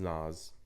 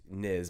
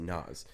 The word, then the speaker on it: Nyz: guy, his name is Nas, spelled differently, Nyz, I think is how it's spelled. And he's Niz, but he pronounces it Nas.